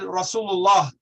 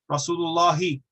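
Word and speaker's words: رسول الله: The last harakah wasn't pronounced. In colloquial Arabic speech and even in the recitation of the Quran, we do not pronounce the final harakah. We do not pronounce the final harakah. If we were, then we would certainly have a kasra on the end of Allah.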